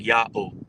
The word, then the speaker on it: Yao: So now what we have is the yah, the silent ha because it's next to the yah and it's also next to a wa which now makes the o sound and we have another silent vowel placeholder. That's the rendering yao.